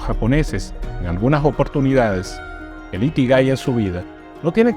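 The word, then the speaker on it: 生き甲斐: El primer hábito o la primera filosofía de vida se pronuncia así: Ikigai.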